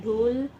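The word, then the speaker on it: 둘: ये रहेगा है ना टू को कहते हैं धूल हना धूल ध उल धूल हना धूल धूल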